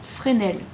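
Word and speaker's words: Fresnel: de texture et dans Frenel je crois que c'est comme ça on prononce pas le S ENF bref donc après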